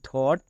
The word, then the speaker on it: thought: এখানে দেখো জিএইচটা সাইলেন্ট কেন, কারণ জিএইচ এর পরে টি আছে তাই GH silent. TO2 EAT এট, the monkey, HEART heart, so HE THOUGHT থট, ANNIDEA idea.